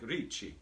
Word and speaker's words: Ricci: out beached ricky martin ricci like richie the italian pronunciation and um this is